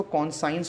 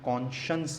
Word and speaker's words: conscience: देखिए उसमें लिखा है CONSCIENCE, तो बहुत से लोग इसको कॉन्साइंस पढ़ते हैं क्योंकि साइंस की स्पेलिंग भी वही है, मगर इसका प्रोनाउंसिएशन कॉन्साइंस नहीं है, कॉन्शंस है, कॉन्शंस।